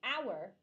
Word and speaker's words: hour: Because the first letter can be silent when you pronounce it. So you say an hour, right? But hour starts with H. H is a consonant, correct?